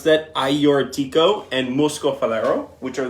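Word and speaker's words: Agiorgitiko: can see that yes that is how you pronounce that iortico and Moscow Valero which are the traditional great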